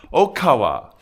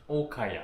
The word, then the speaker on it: Okaya: Okawa. Okaya. Okaya. I keep saying it right. I keep saying it wrong.